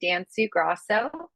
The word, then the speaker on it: Danciu-Gros: series um and yes my last name can be a little challenging to uh pronounce it's dansu Gro and I am the